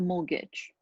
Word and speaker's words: mortgage: flat we take em starts with them more tea is not pronounced that's a mortgage so in order to